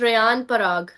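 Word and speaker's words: Riyan Parag: मुझे समझ आ गया इट्स रेयान पराग मेरी प्रोनाउंसिएशन बड़ी ठीक करवाई गई है मोहसिन साहब इरफान साहब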